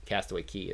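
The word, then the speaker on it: Castaway Cay: want to say that it's k when it's cay right i don't know everybody calls it castaway key that's i think it's spelled like it's spelled differently but it's castaway key is what it's supposed to is how you're supposed to say it that was the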